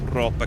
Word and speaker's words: Roope: I work with some great Finnish colleagues on rallies, and there is a driver called Roope Korhonen. Really? Very good driver. And I said, how do I pronounce this correctly?